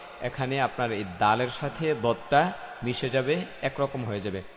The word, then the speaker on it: ضاد: স স সদ, صاد হ্যাঁ দ, এটাও মোটা হরফ দ দ দদ। ضاد এখানে লক্ষ্য করার বিষয় হচ্ছে এখানে যদি আপনি দ দ এবং মোটা করে না বলতে পারেন তাহলে এখানে